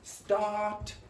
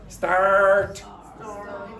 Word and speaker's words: start: And some accents in English do not pronounce an R. You should pronounce the R. So for example, if you're from London, sometimes they will say start, start. So what happens is the R disappears, but this vowel becomes long. Don't do that. If you want to be understood by most people, pronounce the R. So say start.